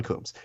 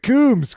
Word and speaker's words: Combs: They always, I mean, it's always a Coombs, Coombies, Coombs, like Cones. Like there's a lot of different variations of your very simple John name. Combs.